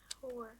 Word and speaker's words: hour: Hour. Hour. Hmm. See, do you pronounce the H for them? No. No, we are just sounding the hour, right?